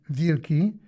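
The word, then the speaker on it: wilki: W I l ki, pronounced vili, means wolf, so Pridbar could hardly be insulted for being so called.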